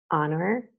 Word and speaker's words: honor: Okay, in the following words, the H is mute. Hour, honest, honor, air, herb, and herbal.